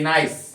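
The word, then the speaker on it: nice: जैसे एक स्पेलिंग है नाइस, नाइस, यहाँ पे आई का जो ओरिजिनल प्रोनाउंसिएशन होता है वही लेना है, और ई यहाँ पे साइलेंट का काम कर रहा है।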